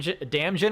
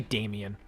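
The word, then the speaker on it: Damjan: But yeah, like like for for example, Damian, uh his name is actually D A M J- an like you think it's pronounced Dam Damjin or whatever, but it's actually Damian because Croatia uh T-Bone Junction.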